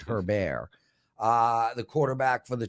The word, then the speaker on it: Herbert: for the giants um her bear is definitely going to be mispronounced his name there people not herbert her bear uh the quarterback for